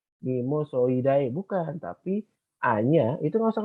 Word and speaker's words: Mimosoideae: latin contoh yang ini bacanya bukan Memories So I Die mimosoideae bukan tapi hanya itu